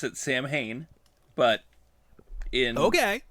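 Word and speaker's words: Samhain: you pronounce it because I've always said San Haim which is not correct it is well well in in in RGB they do pronounce it Sam Hayne but in Okay g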